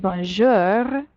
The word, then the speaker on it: bonjour: you miss pop a Bonjour you hit your growly bear ours on the end there Bonjour salut and now